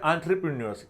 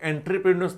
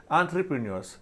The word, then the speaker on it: entrepreneurs: इसे पढ़ना है entrepreneurs, इसे entrepreneurs नहीं पढ़ना कभी। इसके प्रोनाउंसिएशन क्या है? entrepreneurs, who can create and